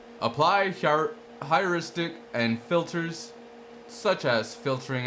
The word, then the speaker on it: heuristic: This service acts as the software backbone that connects different candidate sources, scoring functions, heuristics, Am I saying it right? Wrong? Heuristic. Yeah, I was saying it wrong.